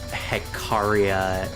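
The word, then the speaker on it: Hecatia: Eh, either way, Hickadia is pronounced Hekaria new information to me.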